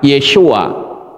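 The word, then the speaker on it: ישוע: Nama Sang Pencipta saat dia turun ke dalam dunia ini adalah Yeshua, Sang Juru Selamat. Nah ini saudara lihat, Yod, Shin, Wa, Ayin. Ini membacanya Yeshua, kepalanya 7.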